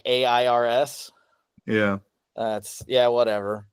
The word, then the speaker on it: Idle Heirs: Idol hairs. I love that one. Idle air like airs.